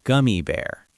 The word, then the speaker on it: gummy bear: A gummy bear. A gummy bear. Exactly. Fun tip, gummy rhymes with yummy. Stress on the first word.